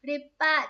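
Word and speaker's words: 立派: Chữ lập và phái, phe phái cái thứ chẳng hạn ấy, thì nó sẽ đọc là Rippa, chính xác, cô tay quá, sàm bằng đề, chuẩn xác luôn.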